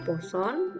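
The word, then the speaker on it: Poisson: yang dipelajari Disini yang pertama binomial yang kedua dibacanya posone yang ketiga adalah hipergeometrik nah yang kita pelajari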